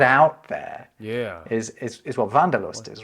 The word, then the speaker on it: Wanderlust: in English, and that's people in English might pronounce it wanderlust, but wanderlust, right?